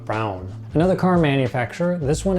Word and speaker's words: Braun: It's technically pronounced Braun. Braun. Not brawn necessarily, but brown.